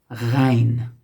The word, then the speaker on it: غ: Go to the next one. Ghain. So here we are getting to the more exotic ones. Ghain. Ghain. Name it something in English. Okay, so these names that I give him in English doesn't really matter. Ghain. It has the French R sound.